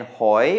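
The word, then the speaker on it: หอย: my egg mark then hoy which means shellfish and that is a rising tone because of the high class consonant and then finally we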